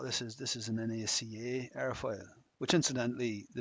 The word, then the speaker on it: NACA: initialization of it or the acronym NACA is intended to be pronounced NACA uh as opposed to Naka.